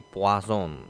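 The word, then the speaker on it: Poisson: ya Distribusi binomial dan distribusi puason Ya itu bukan Poison ya bacanya itu nah jadi sebenarnya mereka berdua tuh sama sebenarnya di mana distribusi binomial dan distribusi ee poazon sendiri itu ee membahas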